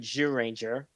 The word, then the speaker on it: Zyuranger: They started with Zyuranger.